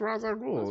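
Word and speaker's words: Ra's al Ghul: it's pronounced sure but in this movie it's pronounced Raza ghoul in the cartoon it was pronounced Raza ghoul and that is how I know it that's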